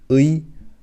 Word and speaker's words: 의: Imagine you just pronounce the two vowel letters together. That's all it is. So here we have U and I. So you pronounce this together, U and I, 의.